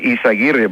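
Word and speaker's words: Yzaguirre: Curtis, it's pronounced Raul Izaguirre, but that's very good.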